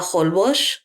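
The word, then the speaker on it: Holbox: hours away and it's called Isla holbush and it's spelled like hall box and um it's so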